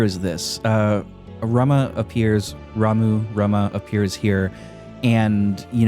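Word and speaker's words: Ramuh: you want to say it so I I pronounced it Rama all my life but um now that I can read Japanese it's it it should be pronounced ramu which I still think is weird right but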